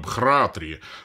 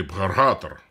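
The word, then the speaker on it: भ्रातृ: Изначально на санскрите это слово звучало как «бхратри», ну или «бхаратр». Да, то есть вот так его надо было произносить.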